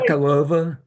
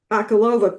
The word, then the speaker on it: Bakalova: Is it She plays, Bakalova? Bakalova plays Ivanka.